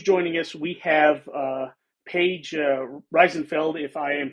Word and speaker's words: Reisenfeld: We have Paige Reisenfeld, if I am pronouncing that right.